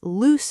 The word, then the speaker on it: loose: People say loose fit when they mean lose fit. Remember, loose has that s s sound, loose, like goose, like moose.